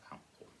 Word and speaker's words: outlaw: Is it outlaw or outlaw? It's outlaw. Earth stressed, and so we've